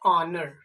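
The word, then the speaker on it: honour: या फिर ले लेते हैं ऑनर, HONUR, इसको हम लोग हॉनर नहीं, इसको हम लोग पढ़ते हैं ऑनर, ठीक है।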